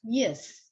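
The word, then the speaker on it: יִשְׂ: You've got Yud has a vowel, so and this one has two dots, so it's Yis. It's not Yisrael. It's Yis. It's Yis because this makes it a syllable.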